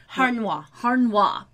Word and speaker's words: Harnois: is played by Elizabeth Harnois. Harnois. Mm-hmm. I knew I was going to say it like wrong. Like Renoir, but hard.